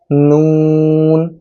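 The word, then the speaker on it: نون: তারপরের হরফ হলো নুন। নুনটা উচ্চারণ করতে হবে জিহ্বার আগাটা তার বরাবর উপরে তালুর সাথে লাগিয়ে তারপর নুনটা উচ্চারণ করতে হবে এবং শেষে ঠোঁটটা একটু গোল হবে।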